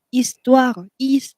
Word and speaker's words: histoire: 后面跟阴性的名词的时候就是 ma，不然的话就是 mon 啊 mon 或者是 ma première histoire h 不发音 histoire d'amour amour 爱情啊爱，那 histoire 故事，我的第一个爱情故事。